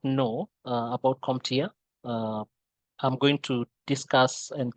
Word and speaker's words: CompTIA: Now, CompTIA, and you can see here how we pronounce it, CompTIA.